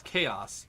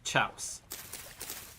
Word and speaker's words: chaos: Um, but he pronounces chaos chouse. We pronounce chaos chouse intentionally like that for Yeah.